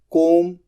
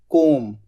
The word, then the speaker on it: comb: बाल बनाना, कोम, COMB, कोम। यहां पर बी साइलेंट होता है।